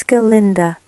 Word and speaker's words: Galinda: It is Galinda, the proper old Gillicanines pronunciation, if you don't mind.